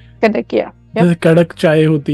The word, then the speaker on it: Kadakia: So Kadakia, that's how you say it. Kadakia. Yep. जैसे कड़क चाय होती है उसी तरीके से कड़क, and then yep. Kadakia, right?